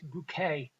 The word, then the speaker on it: Bucket: name's Richard bucket but she won't having pronounced like even though it's but be you see ket its bouquet she's one of those